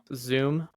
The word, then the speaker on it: Xoom: PayPal owns Zoom, which is spelled XOOM.